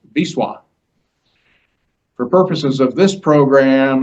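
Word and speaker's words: Wisła: However, what looks like the Vista River is actually pronounced Biswa.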